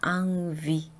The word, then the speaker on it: envie: envie, envie 이렇게 발음을 하는데요. eng이 바로 다음에 n이 왔죠. 그래서 또 비강모음인데요. n은 n이라고 발음을 하면 안 되고요. 항상 ang 발음이 나요. 그래서 envie 이렇게 발음을 하셔야 되고요.